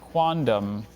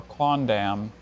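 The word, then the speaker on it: quondam: ashrita hi Dr Bailey your word tonight is quantum or quandam it means having been formally a formerly sorry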